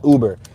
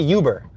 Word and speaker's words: Uber: Let's make this left on Uber. Some people call it Uber, but it's spelled Uber.